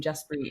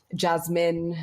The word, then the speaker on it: Jaspreet: I would assume Jaspreet is an easy name to pronounce, but I've been called Jasmine, Jasdeep, Jasper.